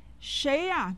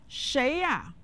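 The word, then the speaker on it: 谁呀: could mean very good shaya means who is it shaya shay with the second tone and ah with the neutral tone say shaya after me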